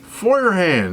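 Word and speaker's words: Feuerhand: Foyerand. That's right. I can finally pronounce it right now after uh so many years of saying it wrong.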